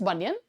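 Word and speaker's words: Bunyan: That is बनियन। कुछ का मन इसे बनियान कहने का करेगा, और जिस तरीके का प्रोनाउंसिएशन हम लोग सुनते रहते हैं तो मन करेगा कि हम इसे जॉन बनियान कह दें, जॉन बनियान, बस आगे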